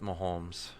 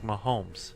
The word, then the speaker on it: Mahomes: there's the elegant Patrick there's no l in his name you got it with like one time oh goodness my homes potato right see